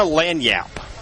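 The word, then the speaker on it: lagniappe: Louisiana lanyap. By the way, are you pretty excited that I knew how to pronounce that word?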